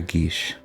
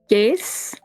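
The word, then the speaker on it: geas: That's the right pronunciation, isn't it? I think it's Gace, but I understand what you meant. I thought it was gay. Anyways, it could be Gace. It's hotly debated.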